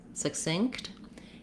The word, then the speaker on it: succinct: And you can hear how this first syllable is very fast and the second syllable is stressed. But this fast first syllable has some sounds you might not expect in it. It has the letters S-U-C, which it can be a schwa.